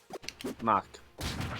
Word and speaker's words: Mark: How do I pronounce your name, anyway? Mark. Just say Mark. Mach. Yep. Mark. Good. It doesn't rhyme with Reich.